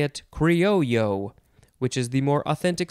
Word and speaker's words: criollo: o l l o so that's why you can say it either creole yo that's more american way to say it i think or you can say it cryo which is the more